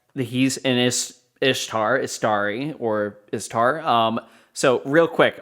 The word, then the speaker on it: Istar: So real quick, these are 3 different pronunciations. Istari, Ishtar, Istar. So Istar is what is used in the books, as well as Istari. So Istari is plural, Istar is singular.